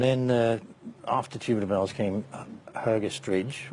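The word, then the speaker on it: Hergest Ridge: And then after Tubular Bells came Hergestridge, or pronounced properly by the locals Hergestridge, which was a much more, sort of say, pastoral sounding album.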